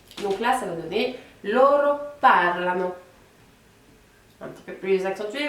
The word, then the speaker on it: parlano: Donc pour la dernière personne, donc pour il au pluriel, on va accentuer un petit peu plus la première syllabe. Donc là, ça va donner loro parlano.